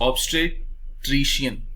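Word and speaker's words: obstetrician: ठीक है, प्लीज इसके प्रोनाउंसिएशन पे थोड़ा सा ध्यान दीजिएगा. सो the word is ऑब्स्टेट्रिशियन.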